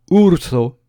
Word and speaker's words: urso: zo je rappelle que notre u se prononce ou en espéranto ou Ourso un ours voici maintenant la deuxème